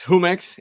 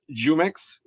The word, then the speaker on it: Jumex: In Spanish it's Jumex. Here in the US the consumers call it Jumex with a J and La Costeña, which also has the the N with a hat.